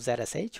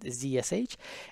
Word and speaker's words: zsh: I actually have a different one called ZSH, or sometimes people pronounce it ZSH.